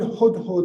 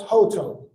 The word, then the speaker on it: hudhud: And I think the English, you pronounce it as hoto. There's different ways to express it, hoto.